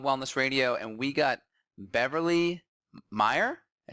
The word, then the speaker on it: Beverly Meyer: here with Beyond Wellness radio and we got Beverly Meyer I say it right Bev yes that's right